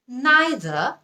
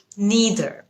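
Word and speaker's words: neither: আপনি তাহলে এভাবে বলবেন নাইদার নাকি নিদার আসলে দুটোই কারেক্ট নাইদ এটা হচ্ছে ব্রিটিশ উচ্চারণ নিদার এটা হচ্ছে আমেরিকান উচ্চারণ আদর মানে আমি এটাও নিব না ওটাও নিব না হর এটাও নিব না ওটাও নিব না দুটা উচ্চারণ কারেক্ট একটা হল ব্রিটিশ উচ্চারণ আরেকটা হল আমেরিকান উচ্চারণ আরেকটা কমন শব্দ যেটার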